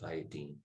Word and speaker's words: iodine: it iodine even though most people call it iodine when you go to the store or something a tincture of iodine or whatever it's actually pronounced iodine so these are some of the ones we'll